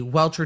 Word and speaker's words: Rentschler: Look, everybody with the W last names, even though wrench is spelled with an R, it still sounds like it's a W.